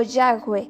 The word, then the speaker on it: Yahweh: Aunque es incierta la verdadera pronunciación de la palabra, es probablemente Yahweh o Yahweh.